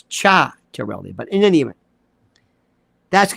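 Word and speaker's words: Ciattarelli: It's we have this thing in New Jersey with Mikey Sherrill and Chitterelli. His name is mispronounced. It's Cha-Terelli.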